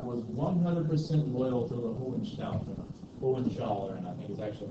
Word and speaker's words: Hohenzollern: And Otto von Bismarck was 100% loyal to the Hohenzollern, I think is actually how you're supposed to pronounce it.